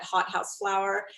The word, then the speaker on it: Hautehouseflower: I think the most direct way to find me is on Instagram at hothouseflower, and that's spelled HAUTEHOUSE, then the word flower.